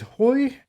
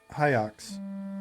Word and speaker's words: Hyox: Is it Hoy? How do you pronounce that? Is it Hoy? Hyox. That makes sense. That makes sense. I think I was thinking Hoy like LaCroix.